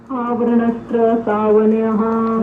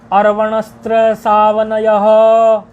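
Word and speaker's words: अर्वणस्त्रसावनञः: आवरणस्त्र सावनयः। नहीं, आवरण नहीं, अर्वणस्त्र सावनयः। अर है।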